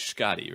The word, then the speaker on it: Schkade: name to be sure it is Scotty right that's right and then what's the